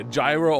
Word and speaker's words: gyro: former Dongo oh yeah gyro or Gyro depending where I've heard it pronounced both ways we're all pretty similar